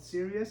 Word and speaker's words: Sirius: The 10th one is He is the Lord of, there's a star called Sirius. It has the same pronunciation as the word, as being serious.